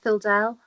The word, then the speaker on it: Phildel: So first of all, you are Phildel. Am I pronouncing it right? Yep, that's right, Phildel.